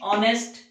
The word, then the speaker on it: honest: He is dash honest man. Here you can see that H is silent. Honest man, is giving the sound, and the pronunciation जो निकलता है हमारे मुंह से, that is not a ho.